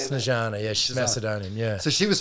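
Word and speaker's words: Snežana: Snezana, yeah.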